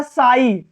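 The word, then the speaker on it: sigh: है, आई, तो यहां GH क्या रहेगा, हमेशा साइलेंट रहेगा। जैसे होता है साई, क्या होता है, साई, तो यहां लिखा है साई, तो यहां पे क्या है, GH क्या है, साइलेंट में है।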